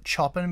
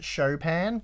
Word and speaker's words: Chopin: is the Chopin and a lot of people call it Chopin but it's actually pronounced a Chopin so whatever but it